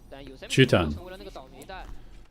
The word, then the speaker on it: Chutan: Chutan. That's how you say it.